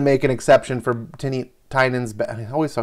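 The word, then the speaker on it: Tynion: was going to make an exception for tinney tynan's ba i always saw satanian it is pronounced tynan doesn't look like it um whatever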